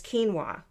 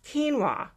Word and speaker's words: quinoa: interesting ancient grain called quinoa pause and then he goes off script and says that's spelled k-e-e-n-w-a-h no I immediately run